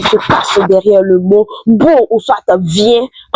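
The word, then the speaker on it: בוא: En hébreu, il a dit beau. Viens en hébreu se dit beau. Et ça s'écrit comme ça avec trois lettres hébraïques. Le bête, le va et le alef.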